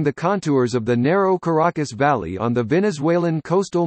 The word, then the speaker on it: Caracas: Caracas, Spanish pronunciation, Caracas, officially Santiago de León de Caracas, is the capital and largest city of Venezuela, and center of the Greater Caracas area.